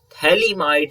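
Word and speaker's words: phthalimide: preparation reaction is gabriel thaliamide synthesis if you will see here ph is silent in gabriel synthesis okay gabriel thalam thalamites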